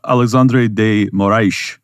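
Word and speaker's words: Alexandre de Moraes: notes on it uh Alexandre de Moray I'm pronouncing it with the Portuguese accent for Brazilians but uh he is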